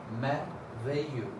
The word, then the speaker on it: merveilleux: So, merveilleux, merveilleux, merveilleux, merveilleux. See, this double L is not spoken. Merveilleux.